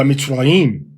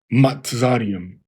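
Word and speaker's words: מצרים: So it says Ba Mitzrayim as opposed to Ba Matzarium. It would be Ba Mitzrayim.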